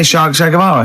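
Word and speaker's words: Guevara: Shay is like shake and his his surname is like guitar, right?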